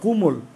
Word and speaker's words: কোমল: কমল দেখো তো, বা কুমল, তাহলে কুমল যদি আমরা বলি, তাহলে এটা ওকার আছে মাঝখানে অল, কোমল তো ও আছে, তাহলে এটার উচ্চারণটা কিন্তু এরকম হবে, কুমল, দেখো বুঝো কিনা।